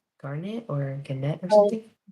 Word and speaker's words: garnet: Garnet or ganette or something. Garnet.